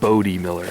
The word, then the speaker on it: Bode Miller: cm retro brought it to my attention it's pronounced bode miller not bode the second thing is i don't